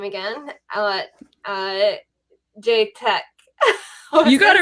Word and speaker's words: Chetak: Let's see if I can butcher the name again. Chetak.